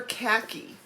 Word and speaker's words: khaki: it's just a delight this is 40 count summer khaki and notice i'm saying it correctly i'm not saying it like the aussies you also notice the